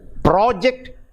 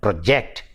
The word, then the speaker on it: project: differentiate between these two these two stress shift project and project and we say project project so that